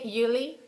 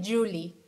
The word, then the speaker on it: Yuli: But yeah, it's just don't say Yuli, say Julie, like a G, like with the G.